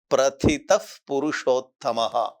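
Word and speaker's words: प्रथितः पुरुषोत्तमः: இந்த 18வது ஸ்லோகத்தில் இந்த இடத்துல பிரதிதஃப் புருஷோத்தமா, இந்த பூக்கு முன்னாடி வர இந்த 2 லெட்டருக்கு, இந்த 2 டாட் இருக்குல்ல, இஃப்னு ப்ரொனவுன்ஸ் பண்ணணும். பிரதிதஃப் புருஷோத்தமஹ, யஸ்மாத் க்ஷரமதி தோஹம், யஸ்மாத் க்ஷரமதி தோஹம், அக்ஷராதபி, அக்ஷராதபி,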